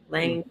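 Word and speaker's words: ylang: Lang Lang is spelled Y-L-A-N-G. Lang.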